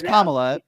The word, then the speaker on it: Kamala: One of these days she's going to, Yeah, I think it's Kamala. It's Kamala. But, listen, if somebody mispronounces her name unintentionally, I don't have a problem with that.